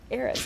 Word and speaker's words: Erez: No, if you would have said EREZ, it would have been wrong. You said it right. EREZ.